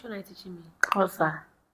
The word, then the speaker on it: Xhosa: But I've been pronouncing it right. And then you've been saying no. All this while. Xhosa.